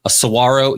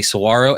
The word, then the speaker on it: saguaro: Retrovision's asking, a saguaro. Yes, that is a saguaro, and that is how you pronounce it, not saguaro, all that stuff.